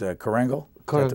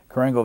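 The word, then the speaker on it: Korengal: recognition of blunder and it's the is it pronounce the valley it's Kangle that's the way you pronounce it Kangle Valley and it they talked to a the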